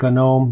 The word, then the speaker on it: GNOME: it's a long story just like gnome we pronounce it gnome there's a reason for that not going to